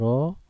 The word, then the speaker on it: rho: Simbol dari massa jenis adalah rho, ya, dibacanya rho.